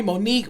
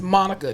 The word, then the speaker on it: Monica: do you all hear because I a lot of my patients I'll be like hi I'm Monica from physical there they're like okay three syllables Monica Monica and there's like